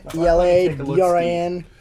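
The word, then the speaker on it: Eladrin: who is also a theologian is that you pronounce it aladrin aladrin aladrin ela dran yes eleatrin she comes kind of from the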